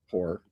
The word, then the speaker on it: Hoare: And I contacted Andy Hoare, Hoare, Hoare pronounced. Yeah, not the one you find in a back alley.